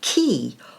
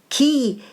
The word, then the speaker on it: ki: is the concept of key or Qi key is the Japanese word Qi is the Chinese pronunciation in this book I